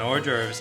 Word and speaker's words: hors d'oeuvres: a slug nibbling on dwarves or oars adores no how do you say it or dervs okay ready i'm good okay and as he said it we three were coughing a slug nibbling on hors d'oeuvres and shoving towards inventive genius